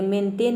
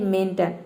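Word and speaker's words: maintain: मतलब होता है पहाड़ उसी तरह से है मेंटेन ये मेंटेन नहीं होता है ये होता है मेंटेन मेंटेन का मतलब होता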